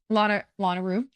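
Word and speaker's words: Lanayru: where I decided to go first, which was Lanaru. Is that how you say it? Am I saying that right? Yeah. Lanaru.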